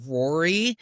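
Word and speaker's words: Ruairi: Our DP is Ruari, which I think is pronounced Rory.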